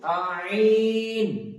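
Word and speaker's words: ع: তো কণ্ঠনালীর মধ্যস্থল থেকে উচ্চারিত হবে আইন।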